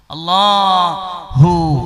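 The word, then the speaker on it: الله: ഇങ്ങോട്ട് കയറിക്കൂടിയത് കൊണ്ടാണ് അല്ലേ അള്ളാ എന്ന ആ വാക്കിന്റെ പ്രൊനൗൺസിയേഷൻ പോലും അതിന്റെ ഉച്ചാരണം പോലും അങ്ങനെയാണ് കണ്ടില്ലേ മേലോട്ട് അള്ളാ എന്ന് വലിക്കുക ബ്രീത്ത് ഇൻ പിന്നെ ബ്രീത്ത് ഔട്ട് ചെയ്യുമ്പോൾ അള്ളാഹു അതിന്റെ ഉച്ചാരണം ഓ മൈ ഗോഡ് ഈശ്വരാ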